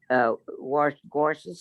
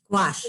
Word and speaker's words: gouache: Oh, that's so And this artist only uses gouaches or whatever you pronounce it for his watercolors. Actually, this isn't watercolor. It's a Gauche.